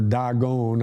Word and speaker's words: Dagon: it they put it in the temple of dagon or dagon i would suppose is the actual pronunciation and when they return